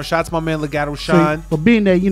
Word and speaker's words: Lagato Shine: Lagato Shine.